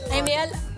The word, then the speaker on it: Amiel: Okay, Amel, can you please once and for all just tell us how you pronounce your name? Is it Amiel or Amiel? Well, yung usual talaga na pronunciation is Amel ba.